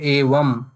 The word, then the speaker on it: eva: common confusion, eva and evam. So most of the people, when they are pronouncing eva, they pronounce it as evam. So these two are different words.